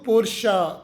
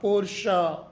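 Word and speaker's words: Porsche: ತಯಾರಿಸಿದ ಸಂಸ್ಥಾಪಕರ ಕುಟುಂಬದ ಹೆಸರು ಜರ್ಮನ್ ಭಾಷೆಯ ನಿಯಮದ ಪ್ರಕಾರ ಕೊನೆಯ ಈ ಅಕ್ಷರವನ್ನು ಸೈಲೆಂಟ್ ಮಾಡದೆ ಆ ಎಂದು ಉಚ್ಚರಿಸಬೇಕು ಅದಕ್ಕೆ ಇದು ಪೋರ್ಷ ಪೋರ್ಷ ಪೋರ್ಷ ಮುಂದಿನ ಶಬ್ದ ನೂಟೆಲ್ಲ ನೂಟೆಲ್ಲ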